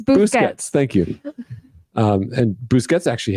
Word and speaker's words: Busquets: It's Busquets.